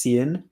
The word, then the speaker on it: Cian: Okay, so first of all, it rhymes with Ian. It's pronounced Cian. The name Ian.